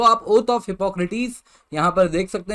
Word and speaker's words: Hippocrates: अब हो सकता है आप में से कई लोग कहेंगे सर हिपोक्रेट्स होता है, तो देखिए अलग अलग प्रोनाउंसिएशन है। वेस्टर्न प्रोनाउंसिएशन जो है वो हिपोक्रेटिस है, अब ये वहीं से